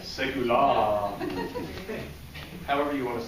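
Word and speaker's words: Segullah: And we have Melissa Young, who writes for, I always say it's Segula. Apparently I've been saying it wrong. Right. Segula.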